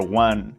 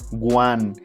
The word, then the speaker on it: one: Number 1. People used to start number with a G sound, so it sounds guan, and it is incorrect. You must use the UA sound.